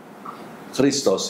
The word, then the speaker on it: Christ: But in English they don't have that sound. So as a result they pronounce as K, right?